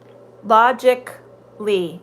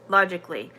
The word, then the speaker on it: logically: has no sound yes logically and practically logic lee you're correct it goes from the k to the l the the a logically now if you say logically